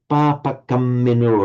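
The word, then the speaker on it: pāpakammino: And also the papakamino, again, very clearly double that M.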